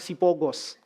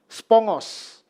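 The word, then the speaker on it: σπόγγος: Bahasa Yunaninya itu tulisannya spogos, ya. Jangan bilang sipogos, ya. Kalau sipogos itu kita itu, ya. Cuman orang Batak yang ngerti. Nanti tanya sama orang Batak, sipogos apa? Bacanya bukan sipogos, tulisannya spogos. Kalau bahasa Yunani G-nya 2, bacanya eng. Jadi bacanya bukan spogos, tapi spongos.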